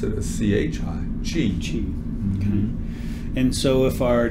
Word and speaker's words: Qi: to call it Qi or and and we pronounce it a CH I Gigi and so if our Chi we want